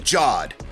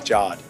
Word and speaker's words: Jod: Law as the Force-sensitive Jod. Or was it Jard? I introduced myself as Jod, and they all call me Jard. So it's Jard. However you would pronounce J-O-D.